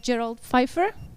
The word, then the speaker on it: Gerald Pfeiffer: I've got here Gerald Pfeiffer. Did I pronounce it?